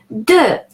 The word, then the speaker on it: de: De, the E at the end is pronounced E and not E because it doesn't have an accent on it.